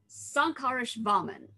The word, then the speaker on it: Śankarasvāmin: So this person is, drum roll please, if I can get the stress on all of the syllables right, his name is Śankarasvāmin.